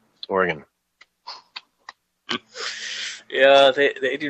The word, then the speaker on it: Oregon: I had on, a Bullhorn Barry on Wednesday, and he was talking about, I was calling it Oregon? Kept calling it Oregon, and I just had to be like, dude, Oregon.